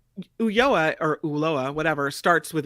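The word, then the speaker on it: Ulloa: what do you say uyoa uloa ulolah you pronounce the L it's a double L you lower at least that's what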